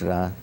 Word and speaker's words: Ra: Some say Re, but it's Ra. I mean, the same people who spell it Re, R-E, then go and write the name of the pharaoh Ramses. Ramses, which means issue, emanating from Ra. So when they say the name of the pharaoh, they say Ra, but when they say the name of the god, they spell it Re. So it's Ra, because it also appears in the Bible.